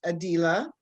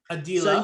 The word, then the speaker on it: Adilah: to be addressed well my name is actually pronounced adila a dealer you can either say